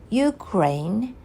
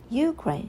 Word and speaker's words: Ukraine: ways like uh the one should PR place a stress on the first syllable like Ukraine and the other one